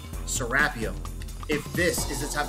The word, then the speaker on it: Serapeum: the serapium and yes I will continue to say it as it is pronounced here in Egypt serapium if this is the